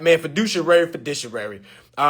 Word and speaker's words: fiduciary: privacy to family now they're they have a fiary duty for any of y'all that doesn't know